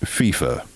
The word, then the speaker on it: FIFA: of international soccer outfit FFA uh Gary it's pronounced FIFA soccer breakdown in 3 2 1 FIFA soccer's